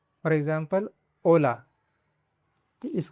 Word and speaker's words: hola: letter is "H" (ache) The letter H has no sound in Spanish. It is written, but it is not pronounced.